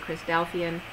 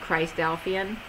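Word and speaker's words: Christadelphian: how they pronounce it Chris delphian but like Philadelphian but Christ delphian um 1847 to 1913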